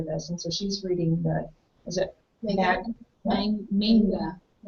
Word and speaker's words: manga: This is after this, and so she's reading manga. I put it on my dictionary app on my phone to hear how they pronounce it. They pronounce it manga.